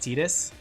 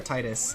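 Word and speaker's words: Tidus: I hate the way he's pronounced Tetus. Tetus or Titus. I You know what? I always called him Titus, but then all the other games say Tetus. So, I started picking up saying Tetus because everyone said Tetus,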